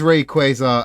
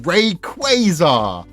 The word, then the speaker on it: Rayquaza: Um It is It is Rayquaza Um Ray as in like space ray, light rays, and quaza.